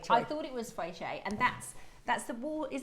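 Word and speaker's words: 翡翠: Fei shui is Mandarin. Okay. Fei choi is Hong Kong. If you're from Hong Kong, okay. say fei choi. I thought it was fei shui, and that's the water.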